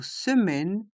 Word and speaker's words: semaine: attention dans le mot semaine les voyelles a et i se prononce e se se m un